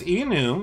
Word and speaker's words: enum: for mutable just like it's e new because it's short for an enumerated type all right that's that's